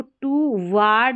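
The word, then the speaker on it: toward: टू, अब इसको टू वार्ड नहीं बोलना, डब्ल्यू ए आर डी, वर्ड बोलना, वर्ड।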